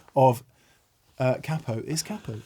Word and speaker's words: capo: We can finally put the capo pronunciation to bed. It is emphatically not capo, right? So many people of Italian origin have said it is capo.